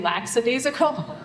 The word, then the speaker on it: lackadaisical: Somehow we got into this conversation about the pronunciation of lackadaisical, which I say lackadaisical, which is not standard.